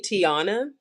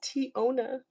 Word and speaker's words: Teona: Like people always call me Tiana, and especially if like I'm watching someone's live or something, and they look at my name and they're like, "Oh, Tiana." I'm like, "It's T-O na." Hi, Bless. How are you, Queen? Welcome in. And I'm like, "Hello." That's not how you say my name. It's Teona.